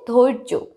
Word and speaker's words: ধৈর্য: দেখো বন্ধুরা, অন্তস্থ জয় মাথায় রেফ আছে, উচ্চারণ কি হচ্ছে, ধৈর্য।